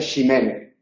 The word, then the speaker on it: Ximénez: se puede escribir también el vino, el Pedro Jiménez, aunque ahí se pronuncia Ximénez, que es la pronunciación antigua.